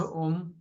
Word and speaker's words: ओम: को स्टार्ट करते समय ओम का उच्चारण करना है दीर्घ ओम अ उ म ठीक है और अपने